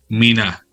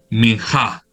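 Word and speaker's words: מנחה: vegetal es el término, miná o minjá. Si yo esa G la pronuncio como la pronunciaría un hebreo, esa H yo la pronuncio como J. Minjá, la pronuncian ellos.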